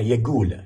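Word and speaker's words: يگول: شرع یگول. شرع یعنی شریعت یعنی دین. شرع یگول. یکول نوشته ولی شما تو تلفظ ببینید که یگول یعنی دین میگه، شرع میگه قول لازم هسه انت تقوم من مكانك.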